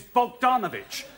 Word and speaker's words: Bogdanovich: The name is Bogdanovich. The way she pronounces it, it sometimes sounds like Sissinghurst.